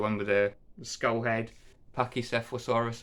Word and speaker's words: Pachycephalosaurus: Pachycephalosaurus, I believe that's how you say it.